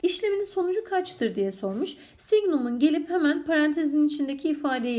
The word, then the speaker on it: signum: SGN arkadaşlar signum diye okunur. Signum eğer parantezin içi artılıysa sonuç 1 olur.